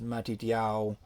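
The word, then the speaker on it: מתתיהו: know for instance uh matthew is mati diao you know john is yokanon james is yaakov and you can hear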